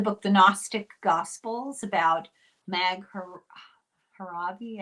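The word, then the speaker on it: Nag Hammadi: She did the book The Gnostic Gospels about Mag Haravi, I think is how you say it.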